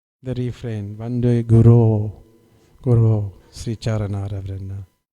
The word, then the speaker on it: guru: mispronouncing the refrain, Vande Guru, Sri Charanara Vrinda. This Guru, not Guru. Prabhupada told him, Go means cow, and the spiritual master is not a cow.